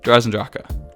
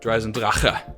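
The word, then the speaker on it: Der Eisendrache: Number 4, Dreisendrache. Dreisendrache. That's not how you pronounce it.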